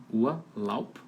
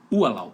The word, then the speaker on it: Urlaub: Urlaub. Porque a pronúncia é assim. Urlaub. E colocava um tracinho embaixo de ua ali. Para saber que realmente é sílaba tônica.